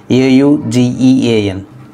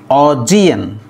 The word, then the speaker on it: Augean: So finally A-U-G-E-A-N is pronounced as Augean. Augean. The stress is on the second syllable G.